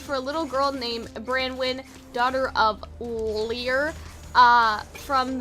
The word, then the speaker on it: Branwen: um their name is their last name is pronounced branwen right yes okay so this is their post